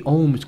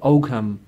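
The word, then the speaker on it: Ogham: it's a silent there G so we say ohms gripped like they're almas and resistance to ohm script but it's English people pronounce it o come and it basically comes from oak ma the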